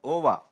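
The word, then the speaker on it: WOAH: Organization for Animal Health which is to be pronounced as OVA this is a very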